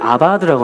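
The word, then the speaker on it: עבד: 자, 뭐라고 읽느냐면은 아바드라고 합니다.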